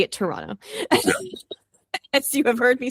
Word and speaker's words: Toronto: I pronounce basically none of those O's, depending on how quickly I am saying the name of the city.